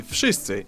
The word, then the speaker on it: wszyscy: W in wszyscy should sound like W, wódka, wojna, but it seems to soften up to an F.